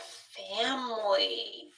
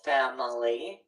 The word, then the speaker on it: family: What about family? Ooh, this is a good one. Yes. Right. So, some people will pronounce this three syllables. Family. And then a lot of people drop that third syllable and they'll say family.